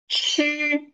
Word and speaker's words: 吃: It seems that when you pronounce this one, the two lips that tend to go out. Chi, chi, observe my lips. Chi, and for zhi, zhi. It does, the two lips, the lips do not go out so much.